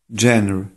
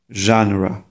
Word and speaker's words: genre: Gender. Gender. To jest nieprawidłowa wymowa tego słowa. Tak się je nie wymawia. Prawidłowa wymowa tego słowa powinna brzmieć. Genre. Genre.